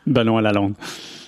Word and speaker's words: Benoit Lalonde: How do you actually pronounce it? Benoit Lalonde.